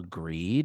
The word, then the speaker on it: Grede: She interviewed Emma Greed. I think is how you say her last name is Grede, and she's She is